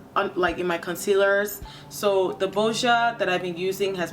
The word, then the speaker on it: Boscia: Right now, I'm trying the Boscia, is how you say it, Boscia primer.